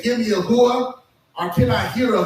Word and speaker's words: hooah: Hooah is spelled H-O-O-A-H, but most of the time you would hear a person say hooah.